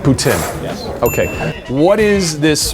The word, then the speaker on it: poutine: French this is impressive French Canadian prononciation is boutin boutin yes okay what is